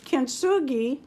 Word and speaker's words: kintsugi: This is for my kintsugi.